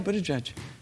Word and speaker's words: Buttigieg: Yeah, Buttigieg.